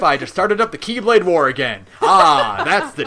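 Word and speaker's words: χ-blade: on them so we just call it the X blade or it's technically called the keyblade because that's how you pronounce it but even xehanort himself says people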